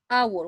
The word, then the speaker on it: hour: to me listen to me what's the correct pronunciation for this word it is our hour one hour two hours three hours 24 hours